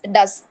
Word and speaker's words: doth: How does the little crocodile, DOTH அப்படிங்கிறது, it is an old English, but we have to pronounce as does.